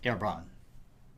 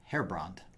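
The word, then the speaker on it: Herbrand: should properly be pronounced Iran however most people resort to the anglicized version hairbrond okay well one exception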